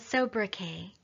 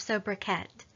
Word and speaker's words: sobriquet: today's word is sobriquet that's so breath K it also has an alternative pronunciation of sobriquet so bra ket sobriquet simply means a